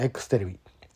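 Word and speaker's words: EXテレビ: ですけどえま X テレビ EX って書いて X テレビって読むんですけど EX テレビ X テレビねえこのオープニングが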